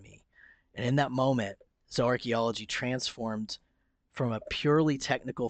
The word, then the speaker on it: zooarchaeology: might ask what is zo archaeology for those that are listening and not reading along it's spelled zoo and archaeology together but it's pronounced zo archaeology or zo archaeologist all